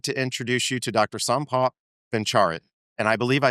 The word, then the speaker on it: Sompop Bencharit: S. Paul Bencharit and I believe I said that correctly because I had to ask him beforehand.